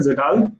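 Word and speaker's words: Kjeldahl: जब आप KMnO4 को कोल्ड वाटर में ऐड करते हो, तो उसको बोलते हैं जेडाल नाइट्रोजन। ठीक है, के साइलेंट होता है उसमें, जेडाल नाइट्रोजन।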